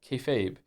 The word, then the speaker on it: kayfabe: Kefabe is pig Latin for be fake refers to essentially treating a bit you're doing that everyone understands as fake as real to facilitate the bit and is pronounced kayfabe this level of new